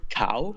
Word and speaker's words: Cao: So your name, is it pronounced Cao or Chow? Well, my name is actually pronounced like cow, C-A-O, which Okay. has the same pronunciation as cow, the animal name, cow.